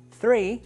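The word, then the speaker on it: three: el tres tries difícil frei comienza con th y estas letras juntas se pronuncian usualmente como una zeta frei sigamos con los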